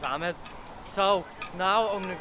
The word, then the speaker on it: Ahmed: His name was Ahmed, not Ahmed. I was pronouncing it wrong.